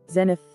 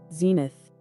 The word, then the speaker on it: Zenith: we pronounce the name there is a huge difference in the British and American pronunciations of this name the British pronunciation is zenith Zen is the American pronunciation is zenith zenith presenting the meaning